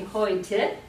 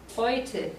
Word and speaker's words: heute: For example, if you talk about today, the word today, heute. So EU is pronounced like oi, heute, which means today.